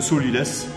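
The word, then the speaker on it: sot-l'y-laisse: Il y a 2 morceaux de chaque côté de la carcasse du poulet, ce qu'on appelle le solilès. Alors pourquoi le solilès? Ça s'écrit S-O-T, plus loin L apostrophe Y, laisse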